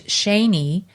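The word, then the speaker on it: Schoene: of my family who their name is shaney but that's how it's pronounced but it's spelled s-c-h-o-e-n-e yeah and how do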